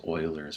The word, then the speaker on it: Euler: this is called ul's formula it's also it's pronounced Oilers formula but most people pronounce it uler for some reason um and it uses a